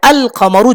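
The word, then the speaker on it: القمر: যেমন কমরুন, এর শুরুতে কফ আছে। এখন যদি কমরুনের আগে আমি আল লাগাই, তাহলে আল কমরু যথারীতি উচ্চারণ হবে। লাম উচ্চারণ করতে কোনো অসুবিধা নেই, কফের আগে আল কমরু, কোনো অসুবিধা নেই।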